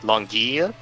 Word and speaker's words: L'Anguille: But it would be pronounced something along the lines of, like, Langille, which Downtown doesn't even know other languages exist, so he hears that as Langille.